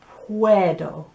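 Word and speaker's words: puedo: see the room and the word for can i is puerdo so you've got dough on the end like dough that you make uh to make bread and you've got where which is like wearing something or where is something and then a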